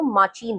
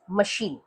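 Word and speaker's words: machine: एच आई एन ई इसका pronunciation अगर आप स्पेलिंग के हिसाब से करेंगे तो माचीन होगा। बट इट इज़ माचीन? नो इट इज़ मशीन।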